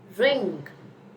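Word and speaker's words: wring: Then you have is ring. Ring is how you pronounce it.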